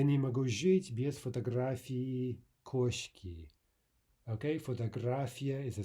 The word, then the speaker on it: фотографии: Now note that ending e, remember the old rule that no Russian vowel is silent, right? So if we have two vowels there in the ending, e, then that should be two distinct syllables if we're speaking clearly.